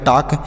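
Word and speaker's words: talk: सर इसे तो देखिए इसे पढ़ेंगे टी से ट पढ़ेंगे इ से आ की मात्रा पढ़ेंगे टी से ट ए से आ की मात्रा एल का उच्चारण नहीं करेंगे ल लिखा जाएगा लेकिन इसे पढ़ा नहीं जाएगा तो एल नहीं पढ़ेंगे केसी क हो गया तो यह हो गया टक टी ए एल के टाक लिखेंगे लेकिन पढ़ेंगे नहीं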